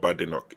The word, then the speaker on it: Badenoch: Because I heard that it's not Badenoch. She said that there's no bad in my name. She said her name is not Badenoch, it's Badenoch. Badenoch.